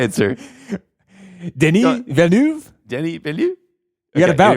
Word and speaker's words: Denis Villeneuve: Denis Villeneuve. Denis Villeneuve? You got to Okay, bounce. anyway. Just like it's two syllables each. Denis Villeneuve.